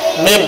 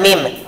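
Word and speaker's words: مِنْ: Min, jangan mim. Min alakin. Nah, terbuka bila mengucap min. Min alakin. Nah, boleh tidak Bapak baca seperti ini? Min alakin.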